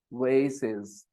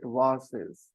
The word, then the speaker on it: vase: she have any voes in America people don't pronounce it VES in America they pronounce it vases uh in England they pronounce it wases and in America they